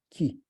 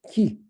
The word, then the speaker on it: ki: Qu'est-ce que c'est le ki? Le ki, le mot K-I, c'est mot japonais, et Ku-I, le mot chinois, la prononciation chinois, parce que japonais et chinois, c'est pas pareil, qui signifie, par exemple,